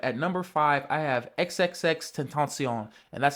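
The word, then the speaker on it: XXXTentacion: Okay, so my last pick and this pick are probably a little biased, but at number five I have XXX Tenton. And that's how you pronounce it.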